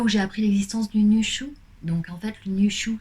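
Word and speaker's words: Nüshu: Les deux points, espace, S, H, U, Nushu.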